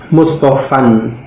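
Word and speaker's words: مصطفًى: Nah, ketika itu ditanwin, tadi alif yang akhir tidak diucapkan, Mustafan.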